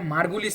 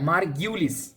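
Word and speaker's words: Margulis: সো এখন একটা সমস্যা হচ্ছে, অনেকে আবার এখানে এটাকে মার্গুলিস পড়েন। মার্গুলিস না ভাইয়া, মার্গিউলিস। এটা সঠিক উচ্চারণ হচ্ছে মার্গিউলিস, মার্গুলিস না।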